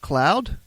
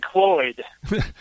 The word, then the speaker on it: Cloyd: And John is one half of Zoe and, is it Cloud? Do I have that right? Zoe and Cloyd.